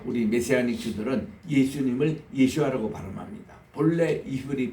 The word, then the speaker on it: 예수아: 그래서 오늘 또 우리 메시아닉 주들은 예수님을 예수아라고 발음합니다. 본래 이브리 발음이에요. 이 예수아, 이 집안의 그 여다야 자손이 973명이요.